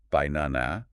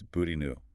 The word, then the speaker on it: banana: If you pronounce the unstressed vowels fully by na, it sounds harsh and unnatural. But if you use the schwah, it's binu. The first and last vowels are reduced to that weak yune